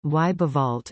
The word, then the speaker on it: Überwald: Überwald, German pronunciation, Weibewald, is a region located near the foot of the Ramtops, farther from Ankh-Morpork than Lancre is.